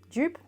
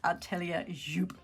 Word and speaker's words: Atelier Jupe: is the Julia sweater by ellia yup yup jup is it jup ellia jup all right so I actually looked this one up because it was bothering me it's actually pronounced ellia yup yup as in dress so yeah got it